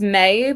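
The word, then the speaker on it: Maye: But like um we say it with a different intonation or her name's May but it's spelled M A Y E.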